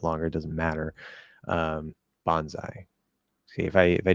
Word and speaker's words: bonsai: the rest uh which what syllable receives primary stress uh the first one Bonsai Bonsai I know